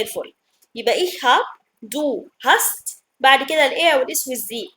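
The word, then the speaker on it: hast: دو مش هابست مثلا، لا اسمه هاست. دو هاست اهو.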